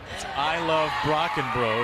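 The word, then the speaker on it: Brockenbrough: pronounce her last name just listen to the champ Rock and bro to the tune of I Love Rock and Roll I got so excited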